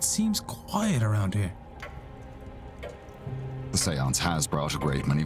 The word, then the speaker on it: séance: The seance has brought a great many visitors, it's true.